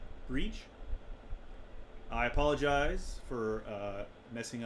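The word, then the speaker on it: Bríd: a famous irish saint it's pronounced with a long e so breed i think similar to the english word read yeah but the final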